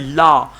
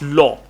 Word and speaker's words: law: you use the word law it's not la it's law law is la la la la that is love okay this is law law all right uh